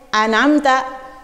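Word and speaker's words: أَنْعَمْتَ: Contoh, an'amta, an'amta. Kita kan tidak membacanya an'amta, tidak. Tidak juga membacanya an'amta, tidak. Tapi ada durasinya.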